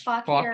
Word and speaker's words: Fauquier: No, that's not how it's really pronounced, is it? Yes, Fauquier.